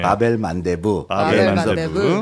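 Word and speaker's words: باب المندب: 저도 뭐 정확한 발음은 모르지만 이제 아라바 전공하시는 교수님께 어쭤봤더니 바벨만데부 예 그래서 눈물의 문이라는 뜻이라고 합니다.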